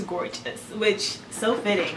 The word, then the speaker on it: Gorgius: for sponsoring today's video i think it's how you pronounce it it's spelled gorgeous but i i pretty i'm pretty sure it's gorgeous which so fitting right